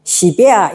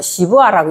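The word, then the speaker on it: שִׁבְעָה: 시베아 이렇게 하면 또 발음이 좀 이상하네. 이건 또 시부아라고 읽는 게 더 조금 더 부드러울 것 같아.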